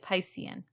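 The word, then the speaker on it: picein: in the title but it's spelled p-i-c-e-i-n so i'm pronouncing it piscin um and this is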